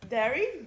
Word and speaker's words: Dari: The language is Dari, D-A-R-I.